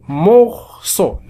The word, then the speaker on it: morceau: لدينا هنا بالنسبة لهذه الأحرف الثلاثة فإنهما ينطقان معا أو morceau.